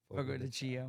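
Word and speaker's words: Fogo de Chão: Fogo de Chao. Fogo de Chio.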